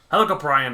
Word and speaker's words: Helicoprion: It's a type of cartilaginous fish similar to sharks called I say Helicoprion. It could be Helicoprion, it could be Helicoprion, or it could be Helicoprion. Helicoprion it is.